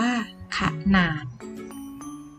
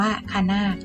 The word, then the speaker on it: ขนาด: พรม ไม่ อ่าน ผัด ขนาด คะนาด ต้อง อ่าน ขนาด ถ้า ไม่ มี หอ หีบ จะ อ่าน ว่า ขะ นาด แต่ พอ มี เขา